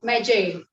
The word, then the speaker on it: Magi: this work named the journey of medjay m-a-g-i-m this is how the pronunciation is made in this work the